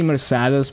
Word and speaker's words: Mercedes: Just like for Mercedes, I say Mercados because the Korean text says like Korean nuts.